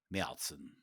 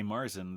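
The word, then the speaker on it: Märzen: And for our German listeners, we understand that it's pronounced Melzen. Miltzen. Melzen. And that's important for our American listeners too, because when you go there, if you say Marzen, they probably will look at you like you have 3 heads.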